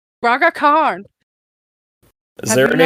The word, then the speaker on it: Braga Khan: It sounds like that, how that's spelled. Braga Khan.